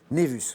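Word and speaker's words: nævus: Alors ça s'écrit N-A-E collé V-U-S, ça se prononce, vous l'avez bien prononcé, Yves Névus.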